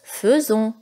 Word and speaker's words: faisons: s'écrit aïssa s'écrit fait raison mais ça se prononce faisons vous faites et non pas vous faisait vous